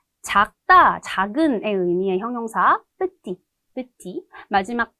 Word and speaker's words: petit: 작다, 작은의 의미의 형용사, petit, petit, 마지막 대 발음하지 않고 남성 기본형으로 발음을 하는데 마지막에 을을 붙이면서 여성형으로 만들어주면 petite라고 발음을 하게 되죠.